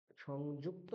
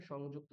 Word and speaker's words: সংযুক্তা: কি আছে, কয় তয়, তাহলে কয় তয়ের প্রথম যে অক্ষরটা রয়েছে ককার, তাকে দুবার উচ্চারণ করতে হবে। কিরকম, সংযুক, এই যে আমি ইউক ককার কয় হলন্ত বললাম সংযুক, তারপর আবার ক্তা, সংযুক্তা। বোঝা যাচ্ছে?